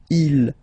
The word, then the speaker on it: ils: Okay, so you can notice that even if you've got this S at the end, and then here you don't have anything, well, you pronounce them the same way.